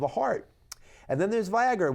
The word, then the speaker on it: Viagra: heart and then there's Viagra which rhymes with Niagara or sometimes this game